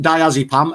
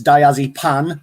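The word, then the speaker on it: diazepam: hmm okay then uh mispronounced diazipam as diazypan p-a-n which i thought was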